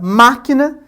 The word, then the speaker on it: máquina: Logo, na palavra máquina, inclusive com esse acento recai ali sobre o má, nós temos que esse ma é a sílaba tônica, portanto ela é uma palavra proparoxito, né?